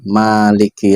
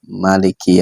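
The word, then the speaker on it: مالك: Jadi 156 itu dengan bacaan Maliki Yaumiddin bil mad atau dengan pembacaan panjang. Karena dalam riwayat lain kan ada yang membacanya tidak panjang, berarti Maliki Yaumiddin.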